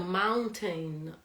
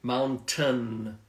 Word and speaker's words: mountain: the the end again Mountain Mountain you see guys Mountain although we have this I in the middle of the word we don't pronounce that silent eye yeah it's it's silent